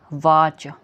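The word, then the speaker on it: watch: ए टी सी एच वाच ठीक है इसमें टी की आवाज नहीं है टी साइलेंट है वाच ठीक है वाच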